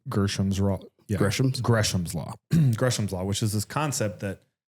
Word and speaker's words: Gresham's law: want to say gersam raw gam Gram's law gresham's law which is this concept that bad money pushes